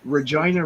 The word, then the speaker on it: Regina: Canadian city almost used Regina rhymes with fun very good then that's